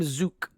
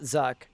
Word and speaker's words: Zuk: I can't believe I'm pronouncing his name wrong the whole time. He says, "I am Zuk, not Zuck."